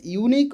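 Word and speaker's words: unique: ইউ কিংবা ওয়া যদি উচ্চারণ হয় তাহলে এ হবে।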